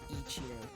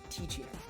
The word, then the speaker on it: Teeccino: And oops, not Ichino, Ticino.